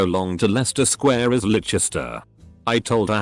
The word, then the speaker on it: Leicester: The teacher tried to get us to sing So Long to Leicester Square is Leicester. I told her how to pronounce it and she sneered at me.